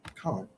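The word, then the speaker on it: Kaun: That's his name. Khan. Like Tony Khan, but not spelled the same.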